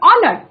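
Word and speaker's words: honour: famous ख्याति संपन्न then ऑनर okay देखो ए dear student A silent this will be pronounced as ऑनर सो ऑनर्ड means respected okay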